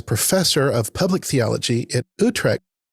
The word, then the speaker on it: Utrecht: recently appointed as professor of public theology at Utrecht. Pronounce it for me.